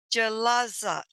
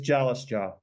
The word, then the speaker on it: Jalasjaa: say that right so galaza I messed it up tell me your last name it's it's jalice jaw jalice jaw sorry about that I